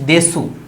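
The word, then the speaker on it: です: শব্দ লিখেছি এটা লিখছি দেশু দেশু কিন্তু জাপানিজরা যখন এটাকে বলে তখন এটাকে দেস বলে এটার নিয়ম এটা বলতে হবে হচ্ছে দেশ তবে যদি কেউ দেশু বলেন তারটাও হবে তারটাও রাইট তাহলে আমরা কি স্ট্রাকচার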